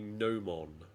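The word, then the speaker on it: gnomon: Where would you normally find a nomon? G n o. Silent g, I'm guessing.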